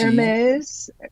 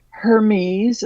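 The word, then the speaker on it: Hermès: second syllable yeah anyway do people say Gucci heres is the correct pronunciation is heres MHM not Hermes or Hermes okay well yeah uh see I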